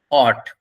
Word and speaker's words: what: তো টাইম দেখার সময় মুখ থেকে এটা বার করবেন, অট। উচ্চারণ খেয়াল করুন, এখানে আমরা যে উচ্চারণ করে থাকি হট, ওইটা ওরকম না, এটা হচ্ছে অট, এরকম উচ্চারণ হবে।